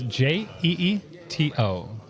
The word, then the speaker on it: Jeeto: yep, it's Jeeto, like Cheeto but with a J.